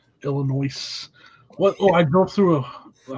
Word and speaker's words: Illinois: Just remember, folks, that S is silent. Illinois.